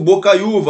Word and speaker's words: Bocaiuva: coisa acontece com o Bocaiuva olha lá ó boa Bocaiuva é uma palavra paroxítona é a penúltima sílaba mais forte ele está sozinho está